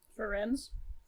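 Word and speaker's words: Firenze: Ferenz? Ferenz? Ferenz. Like Lorenz, but with an F.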